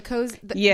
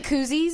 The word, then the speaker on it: koozie: Like it says that on the cozy. It's like, you mean koozies? It's, like, it's a koozie. Yeah. Sorry, I mispronounced it.